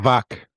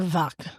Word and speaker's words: Wack: but Bagel, our resident German speaker, Bagel, how do you properly pronounce it? Dr. Wack. Dr. Wack.